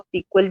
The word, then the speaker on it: SQL: इसको आप सीक्वल भी बोल सकते हो.